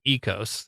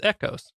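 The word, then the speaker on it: Ekos: And I said it wrong in the last episode, Ecos. It's Echos.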